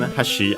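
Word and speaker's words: 端: The other one, hashi, unaccented, means and, as in more like edge.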